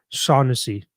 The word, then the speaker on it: Shaughnessy: Brian Rose, also Paul's last name pronunciation is Hennessy. So just with Sean in front of it. So Shaughnessy.